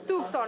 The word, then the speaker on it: Tucson: me I cannot pronounce Tucson - Maria: For the Mexicans it's "Tuc-son". Pati: Tucson! Maria: Tucson. Pati: "Tucson" if you're from Mexico City, okay.